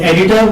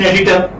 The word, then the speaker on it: editor: So edit you have, and editor. What do you have here? OR in editor. And you know that R is not pronounced when it occurs at the final position in English language.